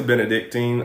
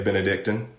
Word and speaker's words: Benedictine: I say Benedictine. Other people say Benedictine.